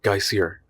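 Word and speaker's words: Geysir: high above the waters the geyser a word the icelanders pronounced Geer and which signifies Fury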